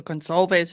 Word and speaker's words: Gonsalves: Okay, so Gonsalves is the right way to say it, yes.